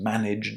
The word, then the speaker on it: managed: So just remember, no extra syllables, and if you can't say zd or jd, as in managed or realized at the end of the verb, just say st or cht.